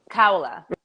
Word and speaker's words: Kaula: It's not Kalua. How do you pronounce? Oh, that's my friend Kaula. Kaula.